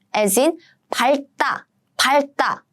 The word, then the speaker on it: 밟다: But there are some exceptions. It comes here because of the exception. So the exception is 밟다. You stamp on it.